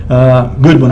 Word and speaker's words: Goodwin: They will be on June German programs, said William Godwin Jr. of 1413 Eastern Avenue. Goodwin, I'm sorry, I mispronounced his name.